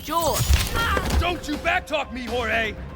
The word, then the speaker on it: Jorge: pronounced George.